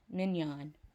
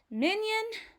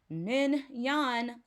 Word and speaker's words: Mignon: Mignon, silent N, as in the most expensive piece of steak on the menu, filet mignon.